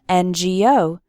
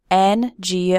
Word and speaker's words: NGO: then we say an NGO why because the the letter N starts with the vowel sound e n n Go o number three do